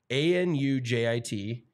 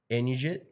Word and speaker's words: Anujit: His name was Anujit, A-N-U-J-I-T, Anujit, in. What do you think? Anujit? Yeah, maybe Anujit? You don't pronounce the J, but the last name is Hir Unra Ten Tanakorn.